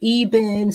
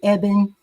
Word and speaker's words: Ebin: Some people pronounce it Ebin, some say Ebin. It's spelled E-B-I-N.